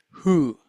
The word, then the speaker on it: who: How is WH pronounced in who? WH is pronounced as h, h. Okay, W is not pronounced there.